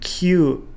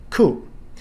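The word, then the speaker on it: 九: For example, number 4, shi instead of yon. Sichi for number 7 instead of nana. And kyu for number 9 instead of ku.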